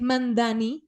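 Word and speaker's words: Mamdani: Eh, como bien dices, Bahía, del establishment tiene un video en español en el que dice, "Nadie pronuncia bien, mi apellido es Mandani, Során Mandani."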